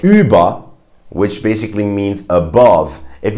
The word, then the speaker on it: über: have in words like über, which basically means above. If you know the app Uber, it's actually pronounced Über in German. You gotta get that one right too. So it's Ü as in über.